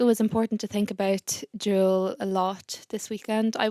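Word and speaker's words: Jules: pronunciation because I said jewels biani and in French I mean in Irish we would like say Jewels you know in English whatever but in French it's juwel so if that offended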